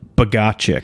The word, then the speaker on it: Bogaczyk: i have one of my best pals josh bogga chick actually how do you say your name um josh bagachik yeah so josh bogack is here and uh